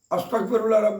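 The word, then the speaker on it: أستغفر الله: ওয়াসাল্লাম সাল্লাল্লাহু আলাইহি ওয়াসাল্লাম এটা 11 বার পড়লেন আস্তাগফিরুল্লাহ বার পড়লেন আস্তাগফিরুল্লাহ আস্তাগফিরুল্লাহ এতগুলা যদি না পারেন অন্তত শুধু আস্তাগফিরুল্লাহ আস্তাগফুল আসতাক প্রায় লোকে আসতাক বলে এখানে ক হবে না কাফ হবে না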